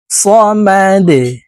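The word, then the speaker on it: صمد: কুলহু আল্লাহু আহাদ আল্লাহুস এই হাতাদিওয়ালা সদকে ধরবে আল্লাহুস সামাদ সামাদ আল্লাহুস সামাদ লাম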